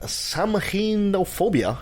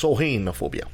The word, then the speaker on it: Samhainophobia: Did you know that Samhainophobia is the fear of Halloween? Really? I didn't pronounce that right. It's Samhainophobia.